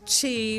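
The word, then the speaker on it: Qi: when it's called Chi it's pronounced Chi but it's spelled q i so I'm going to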